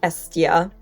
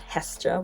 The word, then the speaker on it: Hestia: And Hestia would be pronounced Estia, not Hestia, which is what I tend to say.